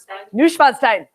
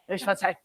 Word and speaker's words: Neuschwanstein: Neuschwanstein, something along those lines. How do you say it? Neuschwanstein. Neuschwanstein.